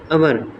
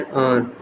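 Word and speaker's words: our: पोइ अचे थो अवर। असां जेके तक़रीबन जेके ॿार आहियूं स्टूडेंट्स आहियूं उहे असां हिनखे छा पढ़ंदा आहियूं अवर। पर बेसिकली छा आहे और।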